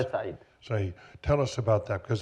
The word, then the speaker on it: Khaled Said: Khaled Said, is that the way you pronounce it? Khaled Said.